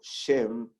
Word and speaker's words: Shem: Ahora, fíjense que hay una conexión lingüística muy interesante entre el nombre de Shem, que sería la pronunciación más apegada al hebreo Shem, y Shalem.